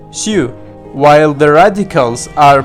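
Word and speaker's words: 休: This character, for example, means rest, pronounce xiu.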